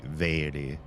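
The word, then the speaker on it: Mhairi: But her name spelled MH, and MH in Gaelic is pronounced V. So her name would be Vairi, or Vairi, not Mary, or Mary.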